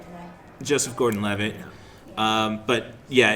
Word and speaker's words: Joseph Gordon-Levitt: From what I'm hearing, then it sounds like Kubrick meets Wes Anderson with this flick for Levitz. Yeah. I am mispronouncing the name left and right today. Joseph Gordon-Levitt.